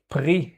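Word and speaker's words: פרי: Actually So, this is one case where you have no vowel. Yes. Yes, and it tells you, "Hey, start a new syllable after me."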